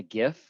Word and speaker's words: GIF: i'm i am also i'm a hard g guy on the on the gif um i see john mark in the in the comments over there it's it's it's an age-old debate um so it really you could fall on either side of it from what i understand but apparently the founder or the creator of the actual tech said it was a soft g just saying really you've